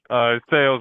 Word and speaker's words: Salas: Did I get the pronunciation correct? Sales. Most people say Salas though.